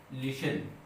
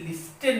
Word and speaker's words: listen: Rhyming word क्या है, लिशन। बच्चों LISTEN लिखा हुआ है लेकिन लिस्टन नहीं पढ़ते हैं, बहुत सारे बच्चे भी लिस्टन पढ़ते हैं, but this is not pronounce, this is pronounced as लिशन।